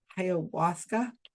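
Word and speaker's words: ayahuasca: or South America and you take this drug, Hawasa.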